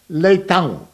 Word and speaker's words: Leitão: And that A-O is pronounced Ang, Leitão.